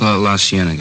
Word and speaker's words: La Cienega: Over on, that street out that way, La Cienega. Is that how you say it? La Cienega, yeah.